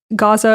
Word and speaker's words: Gaza: aid trucks from entering Gaza. I'm noticing right now that I'm interchangeably using Gaza and Gaza. Gaza is just how you say it in Arabic, so FYI, if I jump around, my apologies.